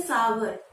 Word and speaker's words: sour: एक सूप, हॉट एंड सार सूप। सार नहीं, उसे हम बोलते हैं सावर, जैसे पावर वैसे सावर।